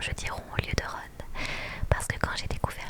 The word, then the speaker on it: Ron: Du coup, j'ai grandi en pensant que rond se prononçait rond. Vu qu'en français R o N, ça se prononce rond comme rondroné.